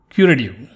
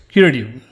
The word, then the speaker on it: curative: Curative. One thing is sometimes the T is not pronounced as T. It's somewhere between D like David and T like Tom. So it's curative or curative.